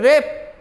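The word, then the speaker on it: wrap: Okay, आगे ये रेप, रेप W के R आती है तो आपको मालूम है, साइलेंट में लिखवाए थे, W साइलेंट हो जाता है।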